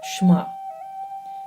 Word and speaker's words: Shema: He could certainly have joined in as they said the Shema, pronounced Shema.